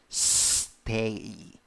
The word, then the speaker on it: stay: 4 letters, 3 sounds. The vowel is A with a hat. Pronunciation: a. So how do you pronounce the word? Stay, stay.